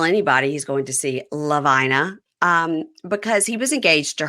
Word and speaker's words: Lavina: Why, of all the names in the English language, Hebrew language, Greek language, Spanish language, would her parents choose to give her a name that rhymes with vagina?